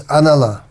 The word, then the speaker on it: Analah: Nalo here means Analah, because the first, due to basic rules of Sanskrit grammar, the first syllable is removed, so Analah becomes Nalaha, and then again, because of the word following it, it becomes Nalo.